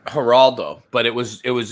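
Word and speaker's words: Geraldo: Haraldo, but it was it was a G. It's spelled with a G, but it's pronounced like an H because it's Spanish. Haraldo.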